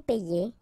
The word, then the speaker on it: paie: Okay, and in that case it's quite funny because we tend to make the difference maybe in pronunciation. So between this one, je paie, and then some persons can pronounce je paye.